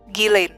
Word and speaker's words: Ghislaine: Bacanya gimana sih? Ghislaine? Ghislaine atau Ghislaine? Ghislaine.